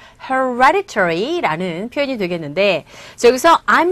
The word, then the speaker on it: hereditary: hereditary 이 부분에 강세 주시면 됩니다. 그래서 hereditary인데 이 D 사운드가 보시면 아시겠지만 E와 I 소리 자체도 모음 사이에 자리 잡고 있기 때문에 D사운드가 아니라 R에 가까운 소리로 들려서 hereditary 이렇게 발음이 됩니다.